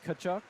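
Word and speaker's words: Tkachuk: the Kachuk family, yeah, It starts with a T, but they say Kachuk.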